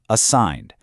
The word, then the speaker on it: assigned: Assigned. That G is totally silent, so why is it even there?